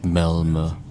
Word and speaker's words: Malmö: So I think they pronounce it like Milmo.